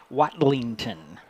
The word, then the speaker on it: Watlington: yeah number 21 who's let me let me pronounce his name properly this geord watlington watlington w a t l i n g t o n want to give him